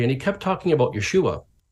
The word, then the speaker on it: Yeshua: talking about Jesus, but he's saying his name wrong. Like, I wonder if he knows he's saying it wrong, So here's the Gentiles going to correct this Jewish expert, and he says, well, his name was, Yeshua.